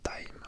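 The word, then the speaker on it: Taim: Tim, mais ça se prononce Time. Ok, Tem ou Tem, je sais pas comment. T-A-I-M, donc je vais dire Tame, ouais.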